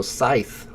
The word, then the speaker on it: scythe: got a fifth option here the AI is pronounced like the word I so Scythe scythe and the final th is pronounced like